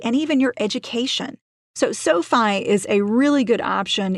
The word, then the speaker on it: SoFi: online lenders the first one I recommend is Sofi that's spelled s so fi this is a great